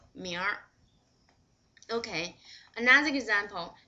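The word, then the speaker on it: 明儿: Another example, 明天, but if you 儿化明天, it will be 明儿. 你明儿干什么？明儿。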